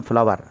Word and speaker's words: flour: A beautiful flower. It is also flower, not floor. Some of the students mispronounced this word, floor. Floor, FLOOR, floor. FLOUR is called, the right pronunciation is flower.